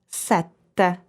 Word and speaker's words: sette: Can you feel the difference between these two words? Sete, which is thirst, and sette, which is number 7.